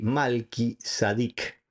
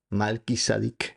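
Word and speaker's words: מלכי־צדק: El mismo nombre hebreo Melquisedec o que en hebreo se pronuncia así, Malki Sadic. Malkis sadik malky de rey sadik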